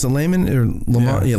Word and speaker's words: Lamon: Because you have Layman, you pronounce it Layman or Lamont? Yeah, Layman.